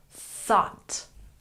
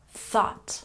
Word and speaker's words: thought: date looking at pronunciation make sure that you really stick your tongue between your teeth when you say thought thought once again thought thought very good and